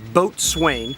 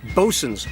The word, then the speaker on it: Boatswain: And it's important to know that no matter where you are, it's not Boatswain, such as Boatswain Swamp at Gaines's Mill. It is Bosun's Swamp.